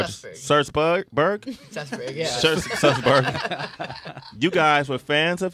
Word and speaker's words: Sussberg: Sussberg.